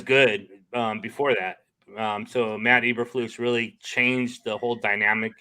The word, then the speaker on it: Eberflus: Elderbus? Matt Eberflus? Eberflus. It's classic. It's classic Dutch pronunciation.